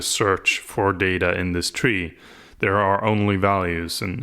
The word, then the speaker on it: trie: structure and so yeah in retrieval it's still pronounced tree and therefore like it should be pronounced tree and - Yin but